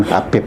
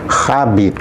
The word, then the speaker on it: Habib: itu adalah bahasa Arab yang sebenarnya membacanya kan bukan Habib tapi khabib ya ya k khabib ya dan itu memiliki arti